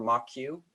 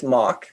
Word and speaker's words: Moq: So for my examples, I'm using a library called Moq, or Moq, M-O-Q, depending on your pronunciation of it.